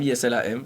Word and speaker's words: Islam: Je m'appelle Islam, ISLAM, comme l'islam. Mais ça se prononce Islam.